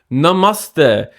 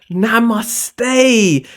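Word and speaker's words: नमस्ते: Number one, hello, guten tag, wagwan, yeah, bonjour, namaste.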